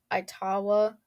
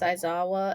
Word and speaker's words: Aizawa: So I know I just said Aitawa, and it's not that. It's Aizawa, and I pronounce it wrong for the entirety of the rest of the episode.